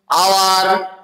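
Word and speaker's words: hour: এছাড়া কি এইচ এর উচ্চারণ যদি ও এর মতো উচ্চারিত হয়, অনেস্ট, আওয়ার, এই সমস্ত জিনিসগুলো তার ক্ষেত্রেও কিন্তু অ্যান বসে।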